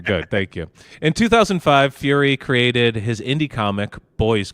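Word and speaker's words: Furie: his last name correctly I think it's Fury the worst it is Fury yeah Matt fury it's not furry it's not Matt furry yeah okay mattur maybe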